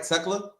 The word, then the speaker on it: Tekla: But I said it right, Tekla.